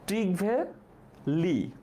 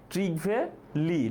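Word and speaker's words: Trygve Lie: না, এটার উচ্চারণ হচ্ছে ট্রিগভে লি, ট্রিগভে লি, লি হচ্ছে তার সারনেম আর ট্রিগভে হচ্ছে তার ফার্স্ট নেম, ঠিক আছে, আমরা হচ্ছে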